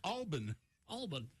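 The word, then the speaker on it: Albin: name not a typo it's supposed to be pronounced i don't know why alban alban but the name it's clearly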